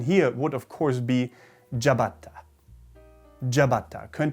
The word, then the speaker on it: ciabatta: would of course be jabata jabata closer to the original pronunciation i'm sure still probably not quite there but closer next up is a